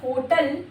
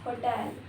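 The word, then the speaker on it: hotel: This is नॉट होटल। This is होटल होटल stress second syllabus second Buffett this is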